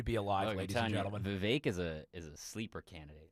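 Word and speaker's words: Vivek: runner for the yeah VI rhymes with Kate ramaswami yeah he's the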